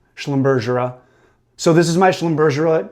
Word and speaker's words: Schlumbergera: Um, I've also heard it pronounced Schlumbumbera with the hard G, but um, I like this soft G. It sounds fancier. Schlumbersa.